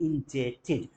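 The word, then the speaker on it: indebted: English में बोलते हैं I will be इंटेड B silent रहेगा प्रशन की क्लास आगे होगी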